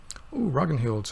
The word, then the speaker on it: Ragnhild: sleep through night to ragnhild's head Bonjour doggone don't you hugging Hilde Ragnhild I kind of pronounced an act like a guttural and German pronunciation because that's how it that's how it interpret it welcomed a 185 this